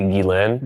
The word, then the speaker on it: Ghislaine: Is it when Ghislaine, how do you pronounce it? It's technically Ghislaine. Ghislaine.